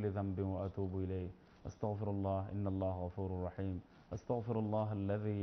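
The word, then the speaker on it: أستغفر الله: যখন আমি বলবো আস্তাগফিরুল্লাহ, হে আল্লাহ আমি ইস্তেগফার করছি, আমি ক্ষমা প্রার্থনা করছি, আমি মাফি চাচ্ছি। তো আশা করি বুঝতে পারি ইনশাআল্লাহ। অনেক সময় আমরা যে বাংলাদেশে অনেক উচ্চারণের কারণে ওয়াস্তাগফিরুল্লাহ, না না ওইটা ওই আয়াত থেকে বলে বলতেছে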